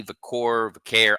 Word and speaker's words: Vaquer: Stephanie Vaquer, I always say it wrong. You got it. Second time's a charm. Second time. Yeah, Vaquer.